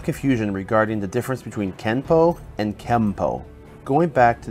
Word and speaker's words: Kenpo: this would mean that Kenpo is technically spelled with an N but should be pronounced with an M through romanization it is